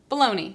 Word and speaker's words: bologna: the English language because why is this spelled like that baloney right and let's say